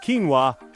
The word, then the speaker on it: quinoa: Pronounced quinoa.